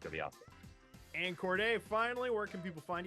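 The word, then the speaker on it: Corde: And Corday, finally, where can people find you?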